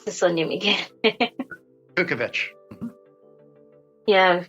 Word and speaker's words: Kukovich: Barry Yeah, but pronounce the surname again. Kukovich. Yeah, Kukovich.